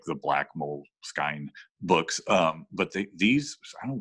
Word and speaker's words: Moleskine: Do you say it moleskine or moleskin? Because it's spelled moleskine. No, it's moleskin. But why do they spell it Moleskine? Do they? Yeah. It's S-K-I-N-E, Moleskine. But anyway, I've only heard it Moleskine, so I'm going to go with Moleskine though, but it doesn't,